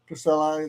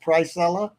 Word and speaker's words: Pricella: Uh Pricilla, I I always thought it was Pricilla, but you pronounce it Pricella.